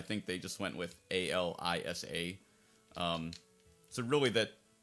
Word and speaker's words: Alisa: they just went with a l i s a um so really that like grammatically that probably should be alisa and alyssa if it was two s's but um yeah again